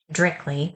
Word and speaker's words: directly: category of vocabulary and it's pronounced directly with two instead of three syllables this is an adverb